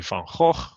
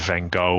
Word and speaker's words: Van Gogh: Now, good old Vincent, my fellow Dutchman, whose name is always wrongly pronounced. It's actually Van Gogh, but no one can say that, so they all make it Van Gogh or Van Gogh or whatever it is.